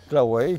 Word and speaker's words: Claouey: Claouet comme Piquet, il y a EY.